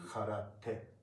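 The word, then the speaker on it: 空手: But in Japanese, T is always clearly pronounced as T. Okay, and also a. There's no none of them. None of these vowels has stress. Karate. These each vowel should have the same stress.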